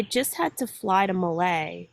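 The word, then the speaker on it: Malé: had to fly to Malay which is the capital of the Maldives m-a-l-e it's spelled with this group of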